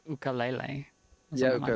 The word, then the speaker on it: ukulele: So it's not actually pronounced ukulele, as it's like ukulele.